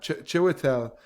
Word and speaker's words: Chiwetel: I think it's Chiwetel. I'm gonna Chiwetel. Yeah, Chiwetel, who's playing Marty Anderson, who's a high school teacher.